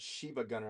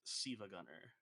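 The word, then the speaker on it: SiIvaGunner: make Sil Sila Gunner I thought you said Shiva Gunner I'm like no it's it's it's pronounced sea Gunner uh but they they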